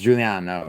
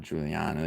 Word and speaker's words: Giuliano: Uh Julian Mendoza, his name is Juliano. It's Juliano, not Juliano. You spelled spelled without a J.